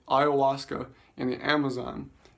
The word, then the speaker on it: ayahuasca: really difficult spell section a Spanish version with the Y and and an H of a silent H but ayahuasca can is is the